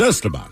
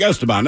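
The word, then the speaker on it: Esteban: name in Spanish it's estaban right I'm like estaban EST if I go to Mexico it's where you put the uh emphasis they're like aan oh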